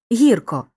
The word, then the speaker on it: гірко: Київський по-київськи зустріч назустріч у прислівниках на О що утворилися від двоскладових прикметників наголос переходить часто на перший склад гіркий гірко смачний смачно у прислівниках на